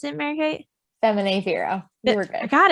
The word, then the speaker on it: Feminae Vero: Feminae, how do you pronounce it, Mary Kate? Feminae Vero.